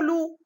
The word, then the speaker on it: loup: Je ne la prononce pas. D'accord? Même chose pour loup.